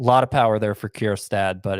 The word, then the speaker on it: Kjerstad: Mitchell, the outfielder for the Brewers, and Heston Kjerstad, who, if you're wondering how that's spelled, it's Kjerstad.